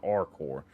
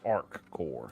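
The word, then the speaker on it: ArcCorp: I'm saying it wrong it's not our core it's Arc core or it could be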